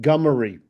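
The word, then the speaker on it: Gummere: All of the family pronounces it Gummery.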